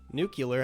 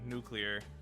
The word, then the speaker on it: nuclear: I mean, if you break down nuclear, it's like syllables are like new, clear, you know. Right. So the There's nuke no break doesn't. in between there. Right. The nuke, the syllable break happens before the nuke, so it's not really that there's a nuke in there. There's a new in there.